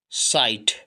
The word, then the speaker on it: sight: SIGST SIGHT टा, साइट, साइट दृष्टि। आगे देखिए TI टाई, GH साइलेंट और T से टा, टाइट, टाइट का सा हुआ।